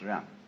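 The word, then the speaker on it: 仁: In Confucius philosophy, the fundamental virtue of a human being is called Ren, spelled Jen for reasons best known to Chinese scholars. I don't know what they are, but it's pronounced Ren.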